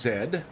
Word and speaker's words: zed: And yes, it is actually pronounced zed like civilized people pronounce the letter zed zed.